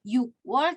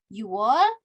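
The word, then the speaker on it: 유월: karena dia ada pengecualian bukan you work tapi You are bukan sip wall tapi Seaworld oke lalu untuk pengucapan lidah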